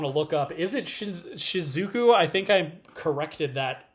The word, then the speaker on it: Shizuku: Is it Shizuku or Shizuki? Um, I did have it in front of me. Oh, here we go. It is it it is Shizuku.